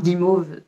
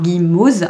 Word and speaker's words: Guimauze: Donc, Pumpkin Autumn Challenge, donc c'était évidemment ce challenge organisé par Guimauve, par Guimauze, hein, pas Guimauve, Guimauze.